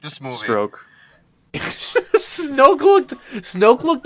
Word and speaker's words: Snoke: Like, Snopes. Did I say his name right? Is it Snope or Snopes? I don't fucking know. Snoke. Holy shit. Wow, I was way off.